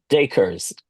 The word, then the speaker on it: Dakers: Dakers. Acres with a D in front. Yeah. Dakers.